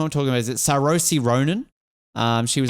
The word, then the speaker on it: Saoirse: Is it Saoirse Ronan? She was like Saoirse Ronan. Thank you, see. Yep, there you go. I told you the pronunciations are never good.